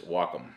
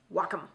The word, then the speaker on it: Wacom: she said it right the wacom tablet and by the way that is the correct way to say i know everybody bust my butt something about saying nikon wrong but i'm never going to change that mostly it's the nikon is it is the proper way to say it but uh when i was actually at the photo expo a couple years ago i talked to the guy and it's wacom wacom is the right way